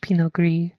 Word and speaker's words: Pinot Gris: you know very well it's a french-based name pronounced pinot gris it's not grease you can't spread it around as a slimy thing so you know there's